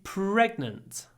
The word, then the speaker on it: pregnant: My wife is pregnant. Here we have the pr sound. Try to get lots of air.